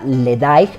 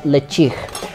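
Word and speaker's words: Ledaig: es un Bueno si lo leemos literal se pronunciaría led pero como es en lengua glic cosesa se pronuncia le chig le chig es un whisky que yo tuve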